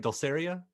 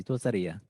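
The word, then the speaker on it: Dulcería: Am I saying it right? Dulceria? Is it Dulceria? Dulceria. Dulceria. 50-50 shot, and I went the wrong way. Casi, no, es casi, Dulceria. Dulceria. You just put the accent in the wrong place.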